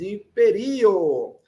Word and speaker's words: imperio: Esta palavra tem quatro vogais imperio. Então, a penúltima vogal que corresponde à penúltima sílaba, é o ri. Portanto, im per rio.